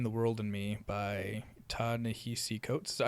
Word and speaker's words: Ta-Nehisi Coates: and it's Between the World and Me by Ta-Nehisi Coates. Is that how you pronounce it? Yeah. Ta-Nehisi Coates.